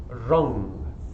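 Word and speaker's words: ram: rum but it is pronounced wrong so kind of like the like lung but instead of an L and R so groan rum okay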